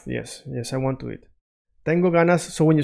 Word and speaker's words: tengo ganas: Make it a little bit soft, like it's not staying like g, it's sliding.